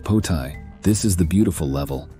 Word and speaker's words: Poltai: The third level, which is the top level, is Poltai, pronounced Potai.